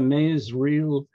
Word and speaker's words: Masereel: would wordless novelists or woodcut novelists are franz mezriel i checked that online the pronunciation and lindward and our own george walker here in canada linda ward was from the united states but this is a maze real uh not not from a um wordless novel